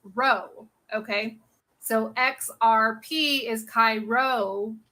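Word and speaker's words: Ρ: is Christ okay and this P right here is pronounced row okay so xrp is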